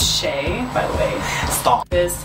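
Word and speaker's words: Shea: an East shower gel we know some people want you to pronounce a shia kiss they're shy about her I'm like it's shay by the way stop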